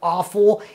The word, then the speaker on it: offal: today we are tackling awful and yes that is the way you pronounce it of course it's spelled different from the other word aul but awul is